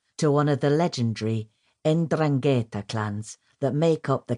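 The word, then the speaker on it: 'Ndrangheta: Nan was a pure bloodline Sereno, born in Reio Calabria to one of the legendary Endrangetta clans that make up the Calibrian mafia. pronounced endrangetta.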